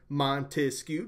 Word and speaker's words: Montesquieu: you ever forget that count out hit the syllables in his name Montesquieu there's three separation of powers think